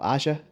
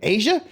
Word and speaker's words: Aja: AJA. Yeah. I just thought it was Aja. Okay. Because we were like reading the list of Apple's 100 greatest albums. I'm like, oh, Aja. Everybody's like, Asia?